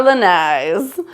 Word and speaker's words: lanai: Namely, we love our lanais. Now, I've heard lots of questions about how to say it, and the word is pronounced lanai.